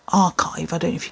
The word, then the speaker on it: Arkive: This is by a company called Archive. I don't know if you can read that, but it's spelled Arkive, and it is the Root-Ine, as in R-O-O-T, I know, scalp serum.